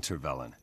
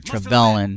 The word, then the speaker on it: Tervelan: prefer you come peacefully so i mispronounced the guy's name here the traitor trebellen not tavern either way he's a traitor